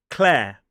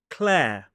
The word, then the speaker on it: Clare: And then following it is that air diphthong, like the air that we breathe. Do not pronounce the R as an isolated word. Claire.